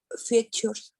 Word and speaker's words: features: There are two extra features. Features. Very good, Luz. Now you pronounce features in a good way. Remember that T-U-R-E, it's pronounced sure.